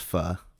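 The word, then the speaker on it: pho: got the if uh it's pronounced fur okay p-h-o right for uh it was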